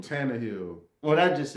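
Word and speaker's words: Tannehill: i do i do i really believe in tanzania say his name tanner hill what i just said tantra hill i said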